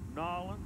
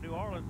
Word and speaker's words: New Orleans: How do you say that? Nolens. Nolens. That's the way they say it. I say it, New Orleans, but I'm talking down right there. We're from Nolens. I just say Cajun country.